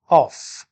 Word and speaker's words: of: students of english language the learners they pronounce this word as of f sound at the end of this word native speakers pronounce this word as of while o double f is pronounced as off look at the third